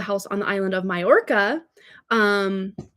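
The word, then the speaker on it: Mallorca: It looks like Malora, but it's not pronounced that way.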